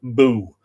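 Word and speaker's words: Bugh: others from his daughter boo that's b-u-g-h but what's pronounced b-o-o angus machinague another son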